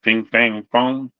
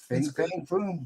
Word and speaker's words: Fing Fang Foom: Ping Fang Fong. Fing Fang Foom. Nailed it. 4 for 4, Roman Curtis.